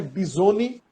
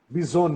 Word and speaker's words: Bizoni: Por favor, me ajude para mim não pronunciar errado. É Bisoni, Bisoni. Bisoni, né?